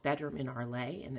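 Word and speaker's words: Arles: bedroom in arleigh and it's a-r-l-e-s as you see at the bottom of my phone it's a town in france so that's why it's it's spelled kind of differently than it sounds because it's french so you'll see there's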